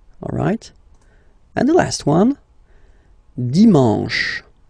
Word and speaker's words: dimanche: And the last one, dimanche, dimanche. You get the sh, and then an, dimanche.